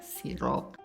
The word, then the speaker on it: sirup: Sirup. Betul. Yang betul adalah sirup.